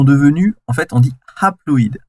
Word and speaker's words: haploïdes: Et donc en fait les cellules filles là, elles sont devenues, en fait on dit haploïdes. Alors je dis hap parce que ça s'écrit HA.